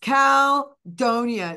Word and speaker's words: Caldonia: band were like Jude it's calonia so they taught me they schooled me in how to actually pronounce it properly in a New Orleans way and uh that's Louis